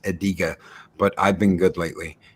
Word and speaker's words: Adega: Oh, and how do you pronounce Adega? I pronounce it Adega, but I've been good lately and been calling him.